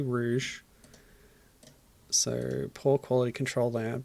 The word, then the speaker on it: Rouge: Emy Dennis okay so the ad pronounced it as Rogue which is a common typo it's actually Rouge so poor quality control